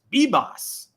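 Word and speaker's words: Yorbit Vivas: And I read the Yankees official pronunciation guide over the weekend that came with the spring training leaflet, and it's Bibas. 2 B's.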